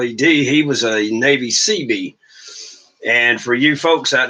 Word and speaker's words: Seabee: he was a Navy Seabee. And for you folks out there that do not know, CB is a construction battalion, is what CB stands for. And then, of course, it's pronounced SEABEE.